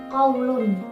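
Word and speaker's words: قولٌ: Ketika tidak ada al di depannya, maka kita harus membacanya dengan qaulun, dengan tanwin.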